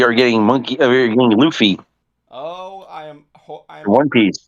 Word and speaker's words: Luffy: Yeah, and we are getting we are getting Luffy. Oh, I am One Piece. I am hoping to God they pronounce the name wrong.